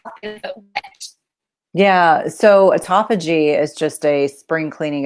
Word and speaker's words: autophagy: It's something that you've really written about, you've researched a lot about, and you're a real expert in, and that is autophagy.